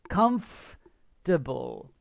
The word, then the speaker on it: comfortable: the pronunciation comfortable okay the o r part you don't really you don't say comfortable comfortable okay the nurse says okay